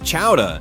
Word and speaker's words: chowder: You seriously cannot miss the clam chowder, pronounced chowda, and maybe a lobster roll.